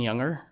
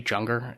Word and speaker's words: Junger: book tribe by sebastian younger um maybe junger i'm pretty sure it would be pronounced with the y but who knows uh in that what